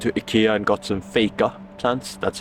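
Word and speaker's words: FEJKA: some I went to Ikea and got some faker that's how you pronounce it by the way it's not fega it's fake which means to fake it in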